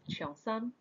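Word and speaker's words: cheongsam: changshan or the long road changshan is actually pronounced chiang sang in cantonese so the term chiang sam was originally associated more with menswear early tea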